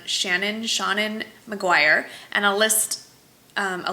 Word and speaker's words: Seanan: it is by, well, her first name is spelled S-E-A-N-A-N. So knowing that S-E-A-N is Sean, I'm gonna gather it's some kind of play on Shannon McGuire, and I'll list